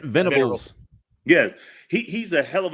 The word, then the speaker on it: Venables: How do you pronounce it? Venables.